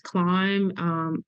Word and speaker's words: Clymb: It's Climb Up, and Climb is spelled CLYMB.